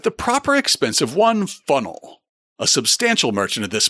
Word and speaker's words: Faneuil: I point this out because Hamilton spells the name of the benefactor who built the new market that's named after him Funnell. So that must have been the pronunciation that he heard on the streets of Boston in 1744 for the landmark